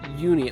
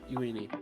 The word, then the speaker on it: Euini: I never know if they're going to pronounce like the e at the start of that like how they do in Japanese or if it's going to be more of a English pronunciation. It looks like for this one it's more of an English.